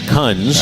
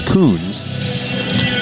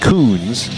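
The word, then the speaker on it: Kunz: Cade Huns. I couldn't find it. My bad. He's a 6'1 junior from Littleton, Colorado. And I'm saying his name incorrectly because there's the pronunciation over here. It's Coons.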